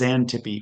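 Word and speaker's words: Xanthippe: pronouncing it right, but I think it's Zantippy with an X pronounced as a Z.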